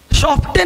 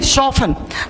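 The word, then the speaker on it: soften: शॉफ्टन नहीं, शॉफन।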